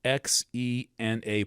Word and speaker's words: Xena: We didn't really hear about Eris until 2004 or so and it's given the provisional name Xena, X E N A, probably correctly pronounced Xena.